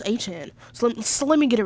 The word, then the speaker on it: Etienne: Well, it's actually pronounced Etienne.